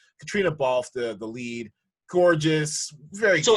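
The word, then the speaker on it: Caitríona Balfe: Katrina Ball. I think I'm messing with it. Yeah, it's Katrina. It's spelled in a very traditionally Irish way, I guess. Katrina Balfe, the lead.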